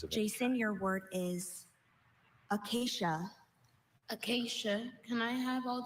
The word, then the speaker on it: acacia: First siblings of Jason, your word is acacia. Acacia. Can I have all the information relating to this word? Sure. Acacia. This is the only pronunciation that I have.